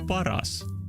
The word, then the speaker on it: Paras: like, paras, sinä olet paras. Because Paras, pronounced in Finnish, is paras, and the best in Finnish is also paras.